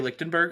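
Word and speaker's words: Ligtenberg: Is it Kerry Lichtenberg? The absolute Lightenberger. Lightenberg.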